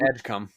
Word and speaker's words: Edgecombe: And if you say it right, Edgecombe.